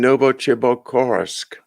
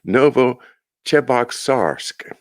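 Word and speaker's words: Novocheboksarsk: in moscow were produced in a plant in noble chibok oh boy i betrayed butchered that one noble chebok sarsk there you go a suburb of chebaksari the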